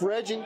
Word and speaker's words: Reggie: them checked out is Chef Reggie, which rhymes with veggie.